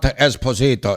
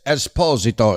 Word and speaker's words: Esposito: First of all, his name is not Esposito. It's Esposito. He's from Napoli.